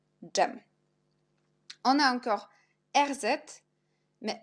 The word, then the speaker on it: dżem: Et jet, dż, jak dżem, dżem.